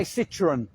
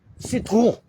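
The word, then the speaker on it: Citroën: We say Citroen. Citroen.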